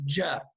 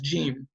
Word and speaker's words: ج: start saying gene because when you read the letter you read it as JA not as gene so we're just cannot